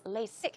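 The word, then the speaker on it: LASIK: about that as well the pronunciation of lasic here is lasic it's not a z ZZ sound rather s sound okay it's a strong s s lasic lasic lasic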